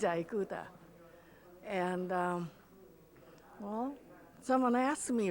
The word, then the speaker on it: Ikuta: midwest people call it ikuta because sound i becomes i sound instead of e sound like italian iranian so i have to say my name is aikuta and well someone asked